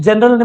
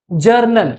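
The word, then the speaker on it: journal: क्या बोलते हैं उसको स्पेलिंग क्या होता है जे ओ यू आर एन ए एल जी नहीं होता है जनरल मत बोलना जर्नल बोलो क्या बोलेंगे जर्नल समझ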